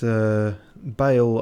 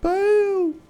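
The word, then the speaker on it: Bayle: So I did hear people going, Bale! And other such noises. And I guess it's that Bale, unless there's another one. Yeah, no, the one they meant is spelt like hay bale.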